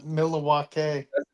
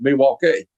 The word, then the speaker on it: Milwaukee: I love I love the scene with um Alice Cooper the Milawake part one. Yeah, it was actually pronounced Milwaukee.